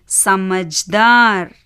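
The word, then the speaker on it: समझदार: தா வரக்கடி ஐந்தாவது ரல மூன்றாவது எழுத்து ஜ வியஞ்சன் அதனால எப்படி உச்சரிக்கணும் இஜ் ஐந்தாவது எழுத்து என்ன ர இதை எப்படி உச்சரிக்கணும் எர் சோ சேர்த்து வாசிங்க இப்போ ச ம ஜா ர சமஜ்தார் சமஜ்தார் சமஜ்தார்னா என்ன புத்திசாலி அடுத்த வார்த்தை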